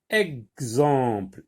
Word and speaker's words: exemple: Exemple, exemple. Je vois X et j'entends X, comme dans exercice.